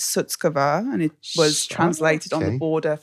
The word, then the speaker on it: Shutkever: It's Sutskav and it was translated on the border for the British people.